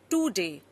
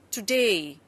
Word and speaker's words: today: Notice we don't say today, we say today.